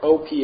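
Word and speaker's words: Ophel: where is o or o p h e l I might be saying it wrong but I say op because sounds better than awul so where is o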